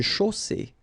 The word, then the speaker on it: chaussée: Une chaussée. Okay, here, final not pronounced. And then you get the double S between two vowels, so it's really strong. I mean, the S is s. Okay, so une chaussée.